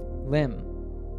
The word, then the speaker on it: limb: Words in English that end in MB are usually pronounced with a silent B, so we say bomb. Here are other examples where the letter B is silent. Repeat after me. Comb, lamb, dumb, limb, numb.